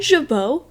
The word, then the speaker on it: jabot: I give him a jabot because it makes him look fancy. Oh yeah, did you know that they're called jabot?